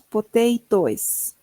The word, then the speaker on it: potatoes: Esa es como algo invisible. Potatitos. Porque no lo no leemos. Potatoes, no poteos directamente.